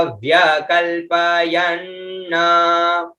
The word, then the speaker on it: व्यकल्पयन्: आगे आता है कतिधा, कतिधा, फिर आधा व और य, है ना, व्य क आधा ल, व्य कल, फिर प य और न आधा, ठीक है, तो उच्चारण हुआ कतिधा व्य कल प यन, है ना, तो कति